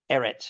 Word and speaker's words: Eretz: Eretz is how it's said.